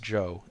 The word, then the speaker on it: Chow: "Spell it Chow if you want to be exotic. It's still pronounced Joe, and that's his name.